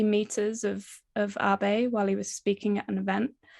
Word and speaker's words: Abe: Abe, am I pronouncing Abe properly? yeah, exactly. Abe.